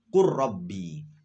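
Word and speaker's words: قُلْ رَبِّ: Misalkan qul rabbi, itu asalnya qul rabbi, lam bertemu dengan ro. Maka ketika dibaca ya harus idgham, karena itu adalah bacaan idgham mutajannisen. Maka bacanya qur rabbi.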